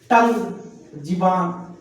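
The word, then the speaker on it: tongue: पर साइलेंट हो गया टंग जीभ टंग बोलते हैं यहां पे यू साइलेंट हो गया आपका इस तरह जहां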